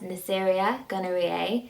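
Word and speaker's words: Neisseria gonorrhoeae: gonorrhea is caused by a bacteria which is pronounced as neceria gonorrhea gonorrhea can spread through oral anal or vaginal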